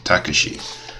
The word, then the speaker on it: Takashi: you'll see speak with takashi that's how you pronounce the name takashi at the cliff overlook okay what you gotta